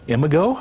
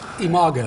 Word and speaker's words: Imago: about, is it called Imago? Imago. Imago Relationship Therapy. First of all, tell us what that is. Well, it's spelled I-M-A-G-O, and the word imago is actually a Latin word that means image, meaning when we grow up,